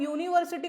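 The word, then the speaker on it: university: तो एन ए जाता लेकिन आप यूनिवर्सिटी को अगेन यू से प्रोनाउंस करते हो यह आपका क्या है व्यंजन है कॉन्सोनेंट इसलिए ठीक है सिमिलरली अगेन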